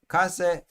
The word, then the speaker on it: case: Case is how you say it.